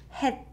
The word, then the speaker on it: 햇: batchim, it doesn't get it's not pronounced s. It's pronounced het, het, just like if it was tigut batchim, het, het. So the closest romanization of the sound of this word would be hat, but without t sound at the end.